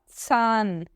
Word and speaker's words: Zahn: O H, quando ele está depois da vogal, ele é mudo, ele serve para alongar a vogal. Por isso que eu não falo nada desse H, eu não pronuncio ele. Mas ele alonga o A, e aí fica der